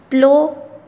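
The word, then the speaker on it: plough: प्लो हल चलाना. GH silent है, GH नहीं पढ़ेंगे, प्लो पढ़ेंगे.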